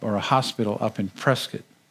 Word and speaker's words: Prescott: He was in a hospice care up or a hospital up in Prescott. I said it right, Prescott, right? You don't say Prescott, you get in trouble when you do that.